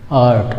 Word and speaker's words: art: रा यहाँ भी साइलेंट रहेगा दोस्तों, जो रा का साउंड है वो नहीं आएगा, ये आर साइलेंट रहेगा यहाँ भी, तो पढ़ेंगे आर्ट, कैसे, आर्ट।